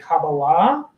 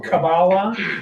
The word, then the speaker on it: Kabbalah: So I pronounce it in the modern Hebrew way, Kabbalah. You might hear it with a more Ashkenazi pronunciation, which is Kabbalah.